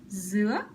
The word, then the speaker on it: dứa: Dứa is pineapple. It's a raising tone.